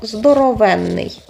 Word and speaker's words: здоровенний: Погляньмо на слово здоровенний. Здоровенний. Ми бачимо, що наголос падає на суфікс н.